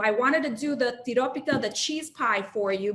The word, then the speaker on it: tiropita: much there it is called tiropita can everybody say that with me please you have to roll your r pita in greece uh